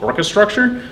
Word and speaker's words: Orchestructure: Also, I myself have started a startup in Ann Arbor called Orchestructure. It kind of rhymes with the orchestration of infrastructure.